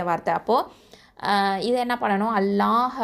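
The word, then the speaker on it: الله: அப்போ இதை என்ன பண்ணனும் அல்லாஹ் அப்படின்னு சொல்லும்போது அதுக்கு முன்னாடி முன்னாடி உள்ள எழுத்து வந்து ஃபத்ஹா பெற்று வந்துச்சு அப்படின்னு சொன்னா அந்த அல்லாஹ் வார்த்தையை என்ன பண்ணுவோம்னா நல்லா தஃப்ஹைமா உச்சரிப்போம் அதாவது வல்லினமா உச்சரிக்கணும் அப்போ மாஷா அல்லாஹ் அப்படின்னு சொல்லி வாயால ஓபன்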